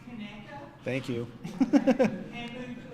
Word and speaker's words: Conecuh: Is pronounced Conecuh Thank you.